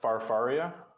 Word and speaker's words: FarFaria: it's FarFaria. FarFaria. Yeah, It's like far, far away.